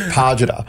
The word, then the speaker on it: Pajita: Like, you know, it's the emphasis on the wrong part, but we'll get there one day. How should I say? Every time. It's just Pajita. Pajita. Yeah. Imagine so I hit the G.